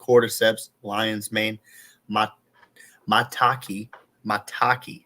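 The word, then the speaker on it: maitake: Lion's man mat mataki mataki is how you say it and chaga I said like multia or something on the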